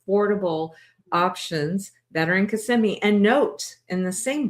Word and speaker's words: Kissimmee: Honey, do you think it's called Kissm or Casemi? I wish it was Kiss. However, the real pronunciation is CMI.